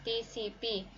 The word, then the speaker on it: TCP: when is a TCP TCP is a position of transmission control protocol and pronounced as separate letters TCP this if is one